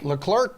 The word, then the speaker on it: Leclerc: down late you clerk the clerk leclerc dude that's how you pronounce getting the win as ferrari went one and two that kid's 24.